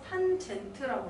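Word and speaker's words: tan: 탄젠트는 CAN이라고 읽고 탄젠트라고 읽어요. 탄젠트라고 읽어요.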